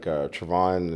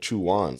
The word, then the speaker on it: Trevon: She's like, Trevon, and she was just saying it wrong. She said Chuan.